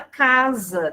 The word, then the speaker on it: casa: A palavra casa, né? Mesmo também, a gente pronuncia o S com som do Z.